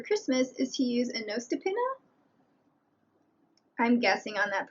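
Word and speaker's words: nøstepinne: The other option, and what I do since I received one for Christmas, is to use a Nostipinna. I'm guessing on that pronunciation, by the way. It's Nostepinne.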